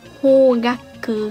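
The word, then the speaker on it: 方角: Rồi, chữ này đọc là hogaku ha. Chữ phương này thì nhiều bạn biết đọc là hô rồi đúng không? Chữ phương nó dài dài như vậy chắc chắn là sẽ có trường âm he.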